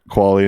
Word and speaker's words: Qvale: my name just Sprint quality and it's QV ale and that usually messes everybody everybody up because it's almost sounds like a u yeah it's it's spelled